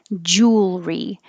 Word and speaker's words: jewelry: You don't make it three syllables like jewelry. Make jewel, push it together, and make it one syllable. Jewelry. And you need time to go from the L, jewelry. Curl your tongue back for the R.